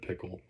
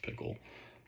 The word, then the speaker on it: Pikul: of her publicist Ted Pickle. That's Pikul, but probably pronounced Pickle.